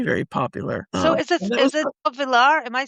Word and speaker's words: Auvillar: So is it Auvillar? Am I saying it correctly? That's it. Auvillar, yes.